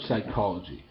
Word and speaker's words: psychology: How about psychology? The P isn't needed because the P sound isn't pronounced in it.